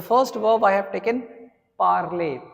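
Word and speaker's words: parler: The first verb I have taken parlay. P A R L E R which means to speak. Okay. Parlay. How do you pronounce this verb? Ple.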